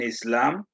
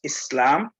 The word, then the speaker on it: Islam: it is should be pronounced as s because it's coming from another language so it's islam and then it's muslim